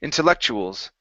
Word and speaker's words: intellectuals: this intellectuals intellectuals uhhuh yeah so it's a CH sound intellectuals intellectuals good job you